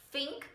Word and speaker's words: think: A letra é T mesmo, só que com a língua lá no dente.